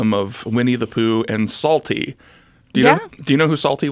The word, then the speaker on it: Psalty: Salty, you're going to find very amusing, I think. Okay, I'm ready. So what Salty is, and I think that they still do shows with Salty. It's spelled Psalty.